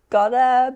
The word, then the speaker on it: gotta: I heard 7, almost 8, because Pippa said got to instead of gotta, but yeah, 7.